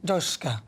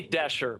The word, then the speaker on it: Doschke: Well, we're joined now by Executive Director, Unleash Prosperity, Doschke. Is that right? Hope I've said it right. Sorry about that. We say Dasher, but that's good. Yeah, Dasher.